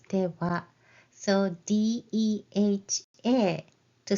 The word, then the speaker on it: では: As I mentioned it earlier, this wa is typed as ha, ha, and then pronounce it as では.